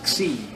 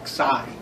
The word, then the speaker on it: xi: Xi. Once again, the tendency is going to pronounce it Xi, but it's not. It's Xi, like iota, Xi. And it's pronounced just like an X.